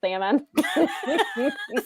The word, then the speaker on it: salmon: So, Brad says the worst people are the people who pronounce the L in salmon.